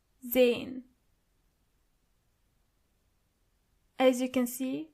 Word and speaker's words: sehen: To see is sehen. Sehen. As you can see, the letter S is not pronounced as S, but more like Z. So you say sehen.